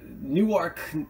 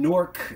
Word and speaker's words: Newark: say it in it here we have Newark uh Newark Delaware and norc New Jersey spelled the same I think it's Newark